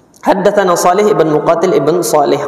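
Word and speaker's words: حدثنا: Tapi na itu singkatan dari haddatsana. Tetap diucapkan haddatsana. Jangan dibaca teks tulisannya itu na dibaca na gitu aja, enggak, tetapi tetap antum baca haddatsana. Haddatsana Shalih ibn Muqatil ibn Shalih qala haddatsana abi.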